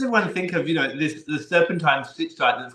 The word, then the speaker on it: Stichtite: For me, it is a name that has never made sense, and I love referring to it as Stichtite Serpentine because the CH is a K.